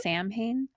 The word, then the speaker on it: Samhain: Sam Hain? I have a marital grievance. With the movie Halloween. Yeah, yeah. That's it is pronounced Samhain, even though it looks like Samhain.